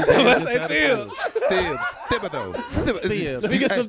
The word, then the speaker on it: Thibodeau: Thibodeau. Thibs. Let me get some Thibs. You got to have a lisp to say his name. Thibodeau.